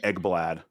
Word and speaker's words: Ekblad: The reason we all call Aaron Ekblad Eggs is because he used to pronounce his name Eggblad.